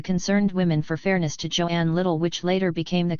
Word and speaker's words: Joan: over the pronunciation of Joan's name as that same journalist explained her mother says it's Joan pronounced to rhyme with loan 13 perhaps the difference